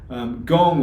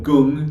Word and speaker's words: gong: Gong or gung, depending on how you say it, doesn't matter, but it means work, practice, or skill.